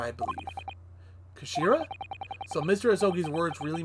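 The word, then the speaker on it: 頭: end of the hilt it's written as head in japanese but it's pronounced as kashira i believe kashira so mr ozogi's words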